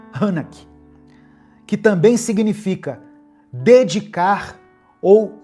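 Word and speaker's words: חנך: ensinar no hebraico é a palavra hanak, terminando com K, hanak, só que tem um tio no A, então eu creio que se pronuncia hanak, que também significa dedicar ou inaugurar.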